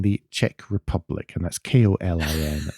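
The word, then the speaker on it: Kolín: at Kolin in the Czech Republic, and that's Kolin, not. Yeah, you have to spell that out.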